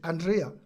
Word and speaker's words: Andrea: I hope that you pronounce your name well. Is it Andrea? Yes, it is.